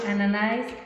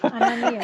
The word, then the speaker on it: Ananías: esta mesa, Luciana, Marjorie, Ananais, creo que pronuncio muy mal tu nombre. Ananías, it's fine. No, está bueno, Ananías. Ananías.